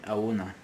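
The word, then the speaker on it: ahoana: Next word, awana, which is translated to how. In fast speech, we say auna, auna, okay?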